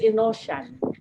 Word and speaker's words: Inocian: It's Inocian. Inocian. Yeah, Ah, it's like in ocean, but in Inocian.